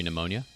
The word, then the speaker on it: pneumonia: Number four, psychology. Number three, pneumonia. Number two, raspberry. Number one, cupboard. They all got pee.